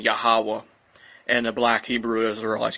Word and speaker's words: Yahweh: And they pronounce that Yah, Ha, Wah.